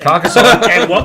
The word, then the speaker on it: Carcassonne: So, how do you pronounce it first? Carcassonne.